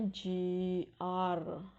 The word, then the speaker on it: GR: ada yang namanya rehearsal atau GR bacanya Ji er atau gladiresik biasanya Sebelum